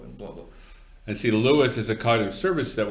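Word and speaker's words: LUIS: How's Lewis spelled? L-O-U-I-S. Language, okay. Understanding, and Intelligence Service. Okay, it's not some guy named Lewis.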